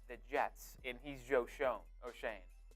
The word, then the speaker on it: Schoen: talking to, let's say, the Jets, and he's Schoen. How do you say his name? Shane.